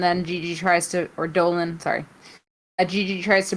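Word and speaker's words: Dolin: little vignette of gigi dolan dolan no it's not pronounced delene anymore she says unlike you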